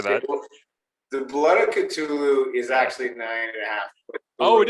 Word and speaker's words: Cthulhu: I believe there was the blood of, and I don't want to mess up the last name pronunciation. So how do I say that? Well, the blood of Cthulhu is actually 9.5.